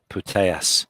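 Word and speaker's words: Putellas: the Spaniard player of the tournament uh Alexia putayas it's spelled p-u-t-e-l-l-a-s Alexia potatoes beautiful uh beautiful uh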